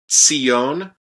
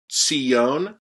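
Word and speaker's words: ציון: So it's a tzade, right? So tzi, and then the hirik yod, right? And then the yod has a dagesh in it, right? So you're going to doubly pronounce that. So Tzion, Tzion.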